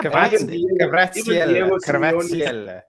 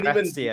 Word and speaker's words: Kvaratskhelia: Yeah, Kvaratskhelia. That's how you say his name. Even Kvaratskhelia.